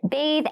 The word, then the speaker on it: bath: Please note, bathe and bath have separate pronunciations. The pronunciations are different.